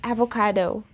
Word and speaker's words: avocado: of course there would be a change in pronunciation too right so in english it's avocado avocado now what are the key sounds here